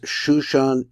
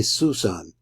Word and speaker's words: Shoshan: And it's spelled as these are two shins. So it doesn't say Susan, or Sason, or something like that. It says Shoshan Eidus.